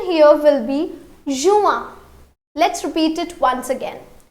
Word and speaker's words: juin: However, the pronunciation here will be juin.